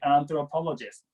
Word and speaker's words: anthropologist: again anthropologist anthropologist okay and it's a th sound so and I'm told okay anthropologist that's Jean Louie got